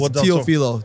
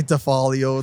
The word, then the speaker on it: Teofilo: My last name is Tofilo. Teilo. Okay, that's what I mean. I butchered that, by the way. You know what? Even the radio did too. They say they say Tfalio.